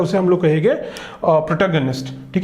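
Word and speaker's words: protagonist: Next देखो प्रोटोगैनिस्ट, प्रोटोगैनिस्ट प्रोटोगैनिस्ट, ठीक है, प्रोटोगैनिस्ट भी, प्रोटोगैनिस्ट इज द करेक्ट प्रोनाउंसिएशन, प्रोटोगैनिस्ट, ठीक है।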